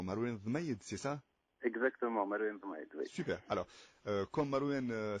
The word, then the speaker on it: Marwen Dhemayed: Alors, Marouane, est-ce que d'abord je prononce correctement ton nom, Marouane Vmaïd, c'est ça? Exactement, Marouane Vmaïd, oui.